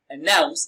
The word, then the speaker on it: announce: Announce. Announce is pronounced and broken down into syllables as announce. Nouns receives the stress.